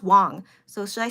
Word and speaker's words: Wang: Anyways, so yeah, but Dylan Wang, is it Wang? But but then in Mandarin is pronounced Wong.